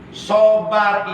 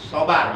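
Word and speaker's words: صبر: bisa nyebutnya Sabar ya kita kan biasa nyebutnya sabar pakai sa pakai Sin ya sabar padahal huruf arabnya huruf shod huruf SH dibacanya Sh apa Sa SH yang benar huruf Shad huruf Shad yang benar dibacanya Sh apa Sa ya SH Nah di sini tulisannya huruf SH Sabar jangan sabar sabar asobru salasatun sabar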